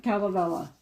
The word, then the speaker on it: Kalevala: Kalevala.